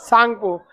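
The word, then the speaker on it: Tsangpo: सांगपो। आगे बढ़ जाए। सांगपो में ना टी साइलेंट रहता है, सांगपो में टी साइलेंट रहता है।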